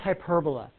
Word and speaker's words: hyperbola: hyperbola but that's how it's spelled hyperbola it's pronounced hyperbola this is a hyperbola guys and every single